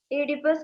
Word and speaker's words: Oedipus: O is silent there. Hmm. Oedipus complex.